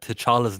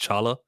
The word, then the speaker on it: T'Challa: I saw actually related to apostrophes that T'Challa's name isn't really T'Challa. It's supposed to be just Chala.